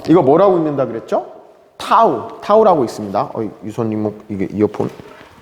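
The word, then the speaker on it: τ: 자, 이거 뭐라고 읽는다 그랬죠? 타우.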